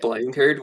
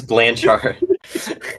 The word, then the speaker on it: Blanchard: Wait, Blankard? Do you What? mean Blanchard? Blankardist, yeah. Is his name pronounced Blanchard? Yes, it's Blanchard.